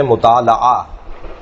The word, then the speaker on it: مطالعہ: کتاب کا پڑھنا، اگرچہ صحیح تلفظ ہے مطالعہ، مطالعہ، مفاعلہ، مقاتلہ، مناظرہ، جی مقابلہ، اس وزن کے اوپر مطالعہ، لام پر زبر ہے، لیکن معمولاً ہمارے یہاں